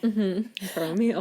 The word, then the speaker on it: Poromiel: Poromiel. You know, like I now in my notes type things out. MEAL. Oh, I wrote PO-RO-MEE-EL. I'm like phonetically spelling it for myself.